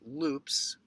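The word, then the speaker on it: loupes: one or two teeth at a time it's pronounced loops with two uh o's and i do that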